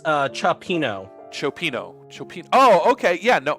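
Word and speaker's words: cioppino: Oh, it's pronounced chopino.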